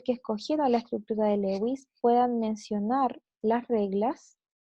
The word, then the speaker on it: Lewis: de enlace viene la estructura de lewis o de louis que en realidad es la pronunciación louis lo que hizo fue dar